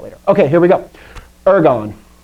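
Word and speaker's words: ἔργον: okay here we go ergon ergo one thing this is not the word ergo like therefore like you hear sometimes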